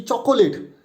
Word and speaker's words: chocolate: if I have to pronounce it without using schwa sound, then it will be chocolate. But here the O that is after CO, it is a schwa sound, and schwa sound means a sound. It will be UH.